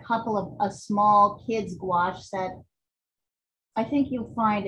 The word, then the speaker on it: gouache: of a small kid's gouache set i think you'll find it'll really like support your watercolor work you spell it wash g-o-u there's a u in there somewhere g-o-u-a-c-h-e actually if you